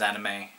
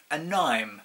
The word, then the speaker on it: anime: saw that word I didn't pronounce it as anime I I pronounced it as anim an Nim to be fair it was only half off